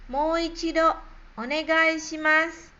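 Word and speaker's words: もう一度お願いします: Bagaimana cara pengucapan dari setiap kosakatanya. Bagian A, Mouichido onegai shimasu. Mouichido onegai shimasu.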